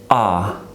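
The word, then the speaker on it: А: this is the first letter in the Russian alphabet letter ah ah that is the name of the letter and we always it always gives us the sound of ah ah we always pronounce it like this ah no matter where it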